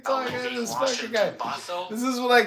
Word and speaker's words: Bothell: How do you spell it? Bothell. Oh, Bothell. Oh, yeah, Bothell.